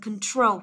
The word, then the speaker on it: control: Đấy, từ đọc là control, control. Đừng đọc là control, nhớ chưa? Control, đây cũng là âm ơ luôn. Đó, control, đây là âm ô này.